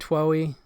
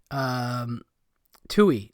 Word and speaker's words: Twohy: Twohy, I think that's how you say it, Twohy.